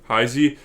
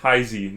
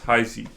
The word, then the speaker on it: Heisey: This girl's name here is Heisey, not Heis. It's Heisey.